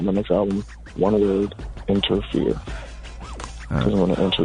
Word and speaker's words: Enterfear: We're just talking about fear, but it's one word and it's spelled like ENTERFEAR. Interfere. I'm entering fear, and at the end of the album, I want to exit all those motherfuckers.